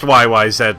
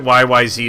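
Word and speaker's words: YYZ: the bass and vocals yeah oh it's pronounced YY said my friend anybody who pronounces it y Y Z is lying and the reason why is the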